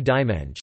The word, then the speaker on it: diumenge: Phonetic nasalization occurs for vowels occurring between nasal consonants or when preceding a syllable final nasal, e.g. dimenge, diw me, Sunday.